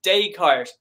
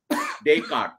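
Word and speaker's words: Descartes: it's fine the way you say but it's day cart day cart day cart okay I don't know why the French didn't pron don't pronounce the S makes your pronunciation makes more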